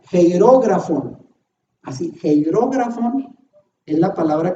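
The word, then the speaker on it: χειρόγραφον: griega que ahí pongo, se pronuncia como hierógrafon.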